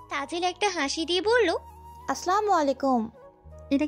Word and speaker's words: আসসালামু আলাইকুম: দ্বারা অর্থ ঠিক থাকে সালামের সঠিক উচ্চারণ হলো সব শুনেই তাজেল বলল আসসালামু আলাইকুম এবার ঠিক আছে মেবিন